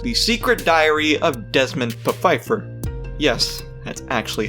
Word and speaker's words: Pfeiffer: one more series the secret diary of desmond pfeiffer yes that's actually how you pronounce it not too many people were happy